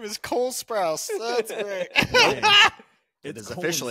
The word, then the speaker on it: Sprouse: Is it Spruce? It's Sprouse. Sprouse.